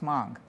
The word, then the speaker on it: Hmong: Pronounced Hmong.